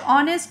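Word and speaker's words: honest: এটা হবে orange number A politician was ডশ অনেস্ট ম্যান দেখো এখানে অ বলছে অ উচ্চারণ হয়েছে এটা কনসোনেন্ট কনসোনেন্টের উচ্চারণ যদি আমাদের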